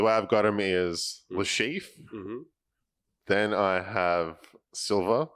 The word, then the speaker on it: Le Chiffre: Can you pronounce the Casino Royale one for me? Because you're good at it. Le Chiffre. Le Chiffre.